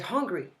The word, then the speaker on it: hungry: To get hungry. To get angry. Be careful, huh? Many people make this confusion. It's important to pronounce the H in English.